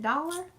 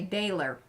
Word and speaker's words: Daler: Is it dollar? Do you say it like dollar? Dollar? Texan, we want to say dollar. You might say daler. I think Taylor. Is that proper? I don't know. I've never really heard it pronounced. I just know who it is because people talk about it. Oh, thank you, Depsy. I love it when you guys help me out. Daler. Yes.